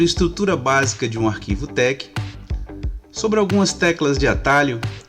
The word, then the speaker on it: TeX: tec de técnica dói ao invés de falar tex a gente pronuncia tec bom olá tec ele